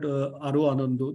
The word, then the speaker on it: Aro Anando: And keeping that in mind, we launched an app called Aro Anando, that's how it's pronounced, but it means happiness unbound.